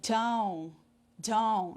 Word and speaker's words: don't: E aí, na pronúncia, eu não uso don't. Eu uso down, down. Escrita, o T tem que estar lá. Escrita, o T tem que estar lá. Porém, na fala, ele não é pronunciado, ele é engolido. Down, down.